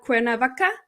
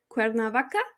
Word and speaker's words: Cuernavaca: somebody from mexico oh the city can i pronounce it cuerna cuernavaca cuernavaca i hope i didn't butcher that i actually